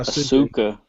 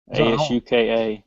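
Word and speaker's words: Asuka: it's uh oh no it's not a sukkah ASU ka yeah I don't think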